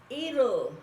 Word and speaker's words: it'll: It'll work. Va a quedar. Si es la pronunciación británica, acuérdense que la T se pronuncia it'll work.